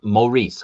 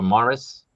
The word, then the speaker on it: Maurice: Uh it's pronounced Maurice. All right, you guys remember this? Maurice. Maurice. If I say Maurice or Morris, correct me just like I correct people with Maex, please.